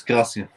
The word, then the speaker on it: Krasi: is written with one S, not with double S, it's Z. But no, it's still S. It's Krasi. I've got it. Yeah, I've just got to stop being lazy when I talk and actually pronounce the S properly.